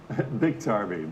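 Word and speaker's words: Biktarvy: your biggest drug U is it big tarvey or bike tarvey or how do you say that big tarvey big tarvey that's right it's the number one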